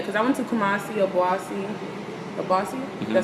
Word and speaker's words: Obuasi: Yeah, because I went to Kumasi, Obuasi. Did I say it right? Yeah, Obuasi.